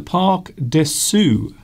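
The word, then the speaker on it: Parc de Sceaux: It is the Parc des Sceaux. I pronounced it wrong earlier.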